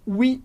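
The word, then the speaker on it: oui: significa sim mas importante a gente fala I porque as letras o u em francês vão dar o som u exatamente como no português u por isso i i são três letras mais dois sons então ela perguntou se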